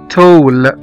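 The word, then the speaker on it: tall: مثلا زي كلمة تول، T-A-L-L، طويل يعني تول، T-A-L-L، هنا نطقنا حرف الـ A كأنه حرف O.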